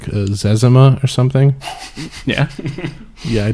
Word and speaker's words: Zezima: It's pronounced Zezima.